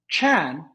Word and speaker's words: Chan: goes up he goes Chan is how you say Zen in Chinese the Japanese came studied Chan they pronounce it Zen they took it to